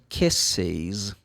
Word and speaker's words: kisses: com esse som sibilante, você tem que acrescentar uma sílaba a mais. Então, se eu falo o plural, se for um substantivo, ou a terceira pessoa para o verbo kiss, eu falo she kisses.